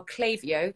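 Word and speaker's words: Klaviyo: really wouldn't be possible without them they are clavio that's spelled k-l-a-v-i-y-o an e-commerce marketing platform for brands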